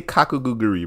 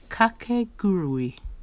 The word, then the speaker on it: Kakegurui: How do you say Kakaguri, bro? Hold on. Kakiguri. Pronounce. Kakegurui. Nigga, we all said it wrong!